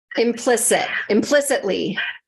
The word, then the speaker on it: implicitly: Syllables, yeah, 4. Implicitly. Implicitly. Yep, implicitly. Very good. Implicitly. Yeah, and for me, that T gets drops. So implicitly.